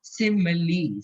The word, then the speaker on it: simile: Crescent में यूज होती है, इसे कहते हैं सिमिली। सिमिली, जिसकी स्पेलिंग है SIMILE, SIMILE।